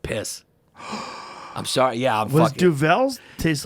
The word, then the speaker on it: Duvel: and she went quoi and i went uh duval you know the beer and she did like the what like seven times and then she went oh you mean duvel and i was like you made me do